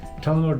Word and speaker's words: Tullamore: Tullamore Distillery is in Tullamore, in the county Offaly. That's how it's pronounced, folks.